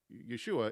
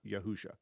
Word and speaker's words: Yeshua: that was uh it was a shortened uh Yeshua is used as a shortened form of Joshua within the within the Tanakh. And so we know exactly how to pronounce Yeshua. It's Yeshua, not Yahusha.